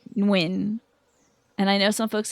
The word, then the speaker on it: Nguyen: I know some folks with the last name Nguyen. And I know some folks that pronounce it with the N first, and some folks that pronounce it with the W first, like winning.